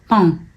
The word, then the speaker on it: pain: So when you see pain written, you don't know how to pronounce if it's pain or if it's pine or what it is, because it's with the nasal sound.